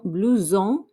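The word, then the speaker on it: blouson: jacket a blue zone remember that s makes a zed sound so we have a blue zone not to be confused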